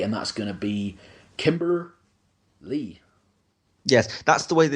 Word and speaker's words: Kimber Lee: show uh today and that's going to be Kimber Lee yes that's the way that it's pronounced because of the way that Allison Kay